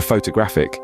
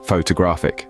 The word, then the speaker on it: photographic: the second syllable and for photographic people sometimes say photographic stressing the first syllable but we know it's photographic with the stress bouncing on the third syllable just remember practice makes